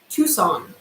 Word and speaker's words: Tucson: it out mm-hmm so this American city is pronounced right we have Tucson Tucson Tucson the City of Tucson